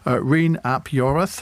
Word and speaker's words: Rhun ap Iorwerth: Rhun ap Iorwerth. Have I pronounced that in an acceptable that's fashion?